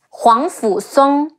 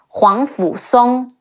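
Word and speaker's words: 皇甫嵩: En, Shun, Gao Shun, Huang Fu Song, He Wu Ang, Huang, Fe Wu Fu, Si Ong, Song, Huang Fu Song, Bo Cai, Bo O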